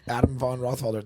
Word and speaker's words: Adam Von Rothfelder: go yeah yeah uh Adam Von rothfelder the first time I ever heard my grandpa pronounce my name the way it was actually you know the German pronunciation though he has likea